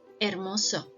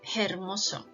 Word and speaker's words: hermosa: E as sound ha later Archie is a silent letter do not ever read letter H in Spanish language hola hermano Hermosa don't ever say hula hermana Hermosa it's around as innocent